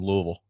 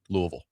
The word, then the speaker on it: Louisville: Uh Adam in Portland asking how we say Lebanon and Louisville. That's how I say it. Lebanon, Louisville.